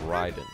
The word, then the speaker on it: Raiden: mentally unstable cyborg ninja by the name of Ryden even though his name is spelled Raiden that mows down thousands